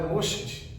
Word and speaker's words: Moshe: Um modo mais fácil de pronunciá-lo é Moshed. Moshed. Olha que bacana. Moshed. Moshed. Moshed é o mesmo que Moisés.